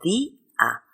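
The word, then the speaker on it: día: ejemplo otra palabra d Yo no digo dia digo di a he puesto un acento en la i para provocar de lo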